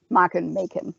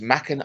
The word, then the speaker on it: Machen: Machen. I don't know which one is right. I think it's Machen. It's certainly pronounced as Machen in The Fog, because of course they have John Houseman's little cameo as Mr.